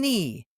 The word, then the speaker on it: knee: When the K comes before the letter N, the K is silent.